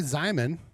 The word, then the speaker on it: Zimon: So, um, Zimon rhymes with Simon.